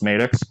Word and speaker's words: Maddox: Dan can confirm it's pronounced Maddox.